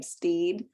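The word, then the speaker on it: Stead: Me by um Rebecca I believe she pronounces her last name Steed but it looks like stud it's s-t-e-a-d but when you reach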